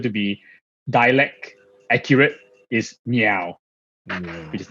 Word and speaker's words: Ngeow: descent hakka dialect so the meow is actually the hakka pronunciation of my of my surname last name uh the the mandarin phonetics actually rao rao uh so even